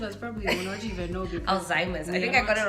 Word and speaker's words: Alzheimer's: probably don't even know alzheimer's i think i got it right today if i got it wrong it's okay alzheimer's i used to call it azamias for a long time okay that's you said